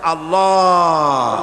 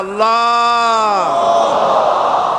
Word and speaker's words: আল্লাহ: আল্লাহ পাকের উচ্চারণটা হচ্ছে, আল্লাহ পাকের নামের উচ্চারণ হচ্ছে আল্লাহ। মুখটা একটু গোল হয়ে যাবে, বলেন আল্লাহ আল্লাহ সুবহানাল্লাহ।